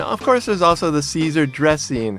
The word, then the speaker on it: Caesar: Right, the pronunciation is very different. It's called Caesar. Caesar.